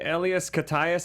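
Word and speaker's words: Elias Koteas: to this day you watch the first movie Ellas kayas I think is how you say his name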